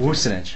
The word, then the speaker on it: Wusinich: Wusinich. How do you say that? Wusinich. That's how you say it. Wusinich. Yeah, you say it. Wusinich. Wusinich. Yes. Is it che? It's with the che.